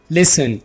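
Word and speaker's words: listen: लिसन, यहां पर टी को साइलेंट रखें। लिसन, सुनना।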